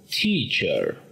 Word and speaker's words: teacher: Tenemos que pronunciar la palabra profesor con el sonido ch, teacher.